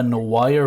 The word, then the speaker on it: noir: I Noir want to see you.